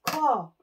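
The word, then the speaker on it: 코: Nose is Ko.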